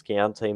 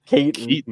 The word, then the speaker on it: Keaton: They were a little bit thin ever since Keontae Mitchell. I always say Keontae. There's a different way to pronounce his name. Keaton. Yeah, there you go.